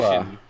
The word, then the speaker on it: Liwa: says Lua. I say it. No one says Lua. Are you sure it's Lewa? Liwa, yes, is the official pronunciation. Liwa.